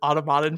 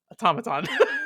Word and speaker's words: Automaton: was automat or sorry I accidentally pronounced you guys as Automodin for a long time. It's automaton.